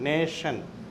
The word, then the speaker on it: nation: ഇനി TI പലപ്പോഴും പല ഇംഗ്ലീഷ് വാക്കുകളിൽ TI ഷ എന്ന സൗണ്ടിൽ കൊടുക്കുന്നു. നേഷൻ, NATION, നേ ഷ എന്ന സൗണ്ട് വരുന്നത് TIക്കാണ്.